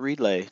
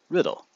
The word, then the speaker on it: Riddle: That's right, Riddle. Not Riedlay, not Riedla, not Riedel, not Riddle. Riddle. Just like it's spelled.